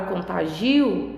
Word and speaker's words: contagio: Então, na palavra contágio, eu tenho a sílaba tônica no tá. Já na palavra contagio, eu tenho a sílaba tônica no gi, tá?